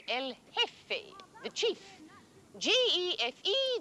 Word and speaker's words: El Jefe: Generalissimo Franco is called El Jefe, the chief. G-E-F-E, the J is silent, El Jefe.